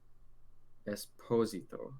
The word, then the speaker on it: Esposito: actor i read an article about giancarlo giancarlo esposito apparently that's how you say it's esposito not